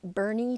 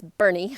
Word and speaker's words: Boerne: So today I was having lunch with someone in a little town called Boerne, Texas, and it's not spelled B-E-R-N-I-E, it's spelled like B-O-R-N-E, something like that.